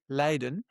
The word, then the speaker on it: Leiden: It's pronounced exactly the same way, Leiden, but we spell it differently.